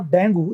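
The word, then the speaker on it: dengue: This is नॉट डेंगू, this is डेंगी।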